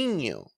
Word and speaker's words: niño: Niño or niña.